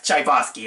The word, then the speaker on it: Tchaikovsky: The music made by Tchaikovsky is yes, Tchaikovsky.